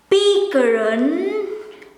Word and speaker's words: pikiran: Supposed to be PIKIRAN, PIKIRAN, PIKIRAN, but most of the times you will hear it as PIKIRAN, PIKIRAN. And in Indonesian, it is PIKIRAN, PIKIRAN, PIKIRAN, PIKIRAN, PIKIRAN.